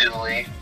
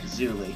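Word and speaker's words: Zuly: Z-U-L-Y. It's Zuli. Yeah, Zuli.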